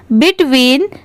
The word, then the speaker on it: between: बिटवीन, BETWEEN, बिटवीन। अब जैसे अगर सिर्फ ये BET सेपरेट होता तो इसको बैट पढ़ते, पर यहाँ पर इसकी प्रोनाउंसिएशन है बिट, और WEEN, विन।